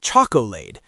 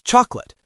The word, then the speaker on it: chocolate: Or the word chocolate. It's not choco. It's chocolate. The o and the a just disappear into the schwah.